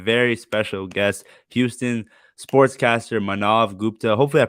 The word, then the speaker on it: Maanav: And today, guys, we have a very special guest, Houston sportscaster Maanav Gupta. Hopefully, I pronounced your name correctly, right? Yeah, it's Okay, Maanav.